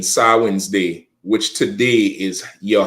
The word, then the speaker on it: Samhain: tradition of sin or Sam ha um mispronounced Sam ha sawi's day which today is